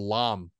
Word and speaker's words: Lam: hey no B all right no B please some people actually pronounce my name correctly pronounced lamb it's called lamb there's only like three people that pronounce that